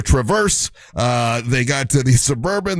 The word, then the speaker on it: Traverse: I said it right this time. I kept saying Travaris. It's the Traverse.